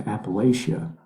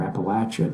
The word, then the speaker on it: Appalachia: And the last one, Helene, actually went up into Appalachia, or Appalachia, depending on how you pronounce it, and caused a lot of damage, if you guys remember that.